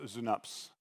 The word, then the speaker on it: Synapse: in Germany it's pronounced zunaps which very much sounds like schnapps which is not what